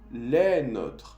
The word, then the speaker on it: les nôtres: Si es plural, se dice de la misma manera. Les nôtres. Solo que se escribe con un S a la fin para mostrar que es plural, como en español.